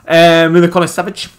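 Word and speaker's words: Milinković-Savić: Milikona Savic.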